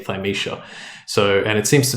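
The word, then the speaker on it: Thymesia: What's Thisha? I think that's how you pronounce it. It's T H Y M E S I A Thishia."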